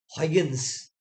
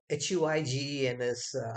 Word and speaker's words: Huygens: Around the same time, around 1700s, a scientist called Huygens, Huygens, how it's pronounced is the word that I have mentioned.